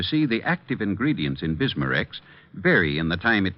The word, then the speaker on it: Bismarex: stomach membranes well I'll have to remember that bismarex is that how you say it that's right